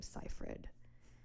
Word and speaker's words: Seyfried: con Miranda's like oh by the way her you pronounce her name seifried and it's just like